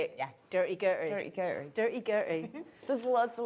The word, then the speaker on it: Durty Gurty: dirty is that how you say it yeah dirty girl dirty dirty there's loads of way you can